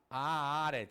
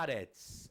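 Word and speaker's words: ארץ: levemente de r hebraico você não vai falar a área vai falar há aretz ok aretz que quer raras bom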